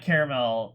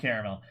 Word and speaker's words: caramel: I don't like caramel but it's pronounced caramel there's an extra a in there okay maybe maybe eat through time it was just caramel and then it's just like it got slipped off it's caramel ya know if it was